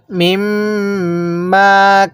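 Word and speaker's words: مما: মিম্মা, মিমের সাথে মিমকে লাগাইয়া গুন্নাহ করব, এরপরে মিমের মধ্যে 1 আলিফ টান দিব। তাহলে মিম্মা। এরপরে কানা, কাপের মধ্যেও টান আছে, নুনের মধ্যেও টান দিতে হবে। তাহলে মিম্মা কানা।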